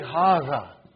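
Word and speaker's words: هذا: See, it is pronounced like haza. Huh? But this alif is not written. Huh? It is explained in the key also.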